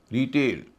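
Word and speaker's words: retail: रिटेल, रिटेल noun है, TAIL अगले हिस्से में है, उच्चारण हो रहा है ए।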